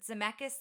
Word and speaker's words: Zemeckis: them walked out on the screening and robert zemeckis that's how you say his name he had